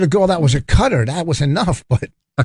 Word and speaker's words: Qatar: about a country okay Qatar's now pronounce cutter I was like why